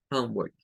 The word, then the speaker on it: homework: Homework. Hum, ¿ven? Hum, como que fuera O. Homework. Esta OR tiene una pronunciación, ¿verdad? Que es como work. Work. Homework. No es work. No es con O. Es work. Homework.